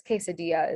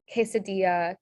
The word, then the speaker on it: quesadilla: If you ever have the K sound in Spanish, that's spelled with a QUE. So this word is quebracho, queña, quesadilla, quebrada, quebracho.